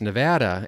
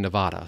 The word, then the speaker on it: Nevada: My wife will always get after me, and she says it's Nevada, and I come from the Midwest, and I'm so used to saying Nevada, so anyway, there we have it.